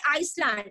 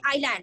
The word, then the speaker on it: island: I lag S is silent we are not we will not say Iceland it is not there like that we will see island why because s the silent islands is a and